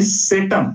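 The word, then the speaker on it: satem: अशी काढलेली होती की केंटम म्हणजे सी इ एन टी यु एन आणि सेटम म्हणजे एस ए टी N Latin उच्चार आहेत हे इंग्रजी स्पेलिंग समोर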